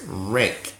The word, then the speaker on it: Rinck: All right, so this person's name is Ingrid Rink. I think that's how you say it, Rink.